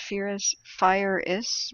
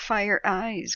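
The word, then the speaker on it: FIRIS: So Alan T says it's pronounced Fire-is with S emphasis. So Fire-is. Fire-is? Why is it not Fire Eyes?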